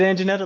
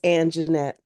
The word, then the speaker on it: Anjanette: Is it Anjanetta? Let me know. I could be saying it wrong. It's Anjanette. Anjanette.